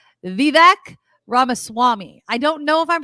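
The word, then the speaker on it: Vivek Ramaswamy: anymore so we could focus on people like vivec ramaswami I don't know if I'm pronouncing that correctly Kim you got it good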